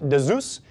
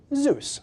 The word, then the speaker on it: Zeus: using these Zeus connectors looks like it's pronounced Deus it's actually Zeus like the Greek God now the reason you